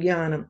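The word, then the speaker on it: ज्ञानम्: It is ja plus na together. Nya, right? So you can't pronounce the two together. So you're saying jnanam. So you're just saying jnanam.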